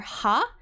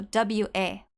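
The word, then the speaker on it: は: it is the it it's the Hiag for ha but when it's written for a particle it's pronounced W so w a w and a particle in Japanese um are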